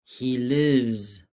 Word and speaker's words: lives: He lives. Nota como la S final suena como un leve zumbido. Lives. Y es una sílaba. Lives. No lives, no. Es lives.